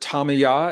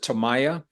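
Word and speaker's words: Tamaya: to experience uh the it's pronounced both ways some people pronounce it tamya and some people pronounce it Taya uh both are correct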